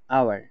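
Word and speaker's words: hour: কিছু শব্দে এইচ লেখা থাকে কিন্তু উচ্চারণ হয় না। এগুলো ভাওয়েল সাউন্ড হিসেবে ধরে নিয়ে এন আর্টিকেল বসে। যেমন এখানে রয়েছে আওয়ার এইচ ও ইউ আর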